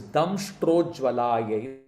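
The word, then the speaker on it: दंष्ट्रोज्ज्वलायै: Try and get your Sanskrit right. Get the pronunciations right. It is Damshtrojvalayai Namaha.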